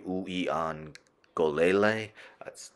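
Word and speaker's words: Uiagalelei: eight interceptions and let's end with I'm gonna pronounce this slowly DJ ueon golele one of the hardest names to pronounce in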